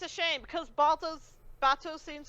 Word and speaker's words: Bato: Bato Bato of the Water Tribe, yeah.